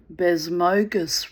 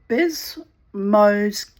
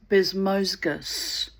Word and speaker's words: Bezmozgis: What was I calling him? Bezmozgi? I had no idea how to pronounce his name. Bezmozgi, I was giving him some kind of weird Russian, Turkish inflection. I've no idea where his name comes from. Um but anyway, it's a Bezmozgis. Bezmozgis.